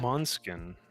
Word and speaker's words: Måneskin: Oh, Måneskin. Yeah, I think it's spelled like main skin.